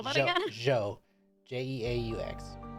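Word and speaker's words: Jeaux: laughs Mark that down the guy's name is Joe j e a u x what what Jake what I spell that again Joe j-e-a-u-x so let's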